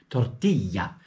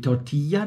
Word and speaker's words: Tortilla: Tortilla. Okay. LL wird immer I ausgesprochen.